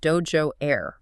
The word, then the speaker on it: DOJO Air: We're looking at a stack of documents, press releases, and research for a new piece of tech called DOJO Air. That's pronounced like the martial arts studio dojo.